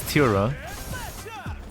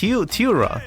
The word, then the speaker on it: Tylra: I say that's Tylra. Is it over here? No. Like Tylra. How about that? The color teal.